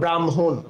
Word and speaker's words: ব্রাহ্মণ: হ এবং ম এটা যুক্ত অবস্থায় রয়েছে। এটা আবার উচ্চারণে গেলে মটা আগে আসবে। হটা পরে যাবে। যেমন এটার একটা উদাহরণ হল ব্রাহ্মণ উচ্চারণ করা।